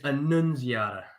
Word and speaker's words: Annunziata: It's Annunziata, not Annunziata. It's hard. It's spelled exactly the way it sounds. It sounds exactly the way it's spelled, but I see that now.